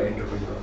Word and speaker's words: entrepreneur: एक French word है, उससे एंटरप्रेन्योर डिराइव हुआ है, जिसको फ्रेंच में प्रोनाउंस किया जाएगा इसको एंट्राप्रेन्योर। French pronunciation of this word is entrepreneur.